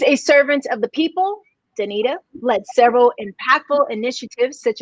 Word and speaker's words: Danita: league scot soccer team dc united named uh danica wait yeah no i'm singing her name wrong why because i can't say it danita johnson the president the president of business operations